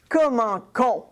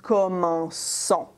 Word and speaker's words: commençons: But again, if in the new form you write something like that, that's going to be pronounced comment con, okay? It doesn't sound very good. The verb is commencer. So if we want to keep the same sound, we're going to do this. We're going to make it a cédille. So this way, it's going to be pronounced commençons.